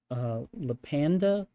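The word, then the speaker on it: LattePanda: And probably the Lapanda.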